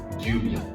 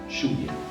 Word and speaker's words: lluvia: on dit yo et lluvia. Je vous recommande de vous en tenir à la prononciation la plus neutre, alors dire yo et lluvia.